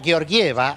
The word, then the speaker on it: Georgieva: el equipo de kristalina georgieva así se pronuncia me insistieron no digamos yo lleva